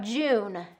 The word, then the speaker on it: June: Let's talk about June. Again, we have that j is a burst sound. June, and we want to round the vowels for that oo sound.